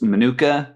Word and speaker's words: Minooka: And I want my pronunciation on this right. It's Minooka, Illinois?